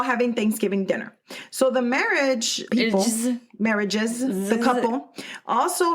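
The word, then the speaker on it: Merhige: Gathering along with mural's Aunt Carol and Michael marriage so it's spelled m e r h i g e but it's pronounced marriage marriage okay you know what I was saying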